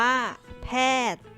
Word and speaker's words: แพทย์: อ่าน ว่า น้ำ มนต์ นาย แพทย์ อ่าน ว่า แพทย์ ดวง อาทิตย์ อ่าน ว่า